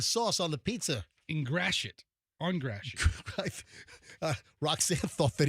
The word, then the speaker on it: Gratiot: Is that how you pronounce it? Yeah, Gratiot.